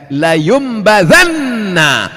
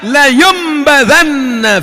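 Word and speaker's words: لَيُنْبَذَنَّ: Ayat itu tidak secara eksplisit mengatakan bahwa kamu akan dilemparkan ke dalam; Diucapkan dengan lembut, tetapi tertulis layumbadanna, dengan 'lam' di awal dan 'nun' di akhir. Kalla , layumbadanna fil hutamah, you will surely be thrown into the Hutamah hell.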